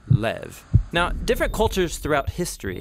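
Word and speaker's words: לב: word in this prayer heart which in hebrew is sometimes pronounced lev or more often in a shorter form lev now different cultures throughout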